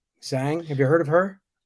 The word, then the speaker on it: Zhang: How do you pronounce her name? Zhang. Zhang.